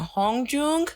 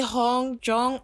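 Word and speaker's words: Hongjoong: can't even pronounce now Hong Jung it's the double O that gets me so you're going to hear me say Hong jong a lot but I think it's pronounced Hong Jung I am so sorry I'm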